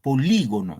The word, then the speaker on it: polígono: les pregunto ahí nomás la palabra polígono En cuál es la sílabas vale el acento dónde van en cuál es la sílabas tienen la mayor fuerza de voz y profesor qué dicen lo demás baila ahí claro muy bien en la i aquí recae el acento polígono Entonces si acá recae